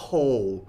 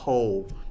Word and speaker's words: whole: ว่า อะไร นะ คะ หลาย คน ก็ แบบ วา โฮ โฮ่ ไม่ ใช่ นะ คะ คำ นี้ ไม่ ออก เสียง W ออก เสียง ว่า Ho แปล ว่า ทั้ง หมด ทั้ง มวล เป็น Adjective ค่ะ นะ ฮะ เออ นะ ฮะ แปล ว่า ทั้ง หมด นะ ฮะ เป็น Adjective อ่าน ว่า whole นะ Ho เป็น Adjective แปล